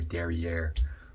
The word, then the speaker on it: derrière: i'm not gonna lie the derriere stuff that's how you pronounce it by the way derriere um doing a raw